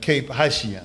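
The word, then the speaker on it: Cap-Haïtien: And when we got there, we had a debate whether to go to the Citadel in Cape Haitien.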